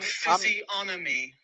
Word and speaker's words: physiognomy: I'm Physiognomy. physiognomy. Physiognomy. G is silent.